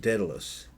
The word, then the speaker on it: Daedalus: Almost Daedalus, yes.